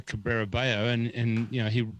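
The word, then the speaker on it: Cabrera Bello: out and then put the phonetic way to say it after it said rafa cabrera bayo and and you know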